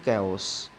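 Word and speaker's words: chaos: रहा है इन द कैस कैस क्या होता है कैस कंप्लीट डिसऑर्डर ऑफ कंफ्यूजन और इसको कैसे बोला जाएगा प्रोनाउंस कैसे होता है केस केस का अर्थ है उथल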